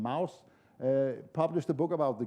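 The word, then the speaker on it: Mauss: france close to germany so you pronounce him mouse published a book about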